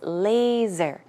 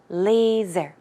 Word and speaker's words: laser: time pronouncing that word the s is pronounced with a z sound so it's laser laser okay and also droplet